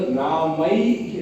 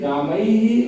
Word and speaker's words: रामैः: नहीं पाएगा, तो केवल रामई रामई और गौ, इस रामई में अंत में ई लेना पड़ेगा और गौ में अंत में ऊ लेना पड़ेगा।